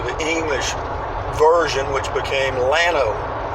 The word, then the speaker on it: Llano: Texas it's lamo but double-l in Spanish is pronounced Y which would be Yano but when the texicans came in they changed the pronunciation to the English version which became Llano it's a small Central